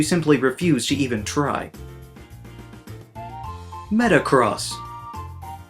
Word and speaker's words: Metagross: Metagross. There's a G right there.